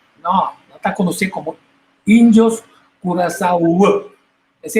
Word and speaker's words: Curaçao: curacao, com coração, não está conhecido como índios Curaçao. Essa é a pronunciação.